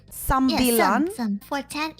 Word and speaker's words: sembilan: From 9, it's sembilan. Sambilan.